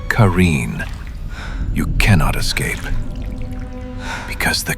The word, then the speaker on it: Qareen: But the Qareen, pronounced Qareen, you cannot escape.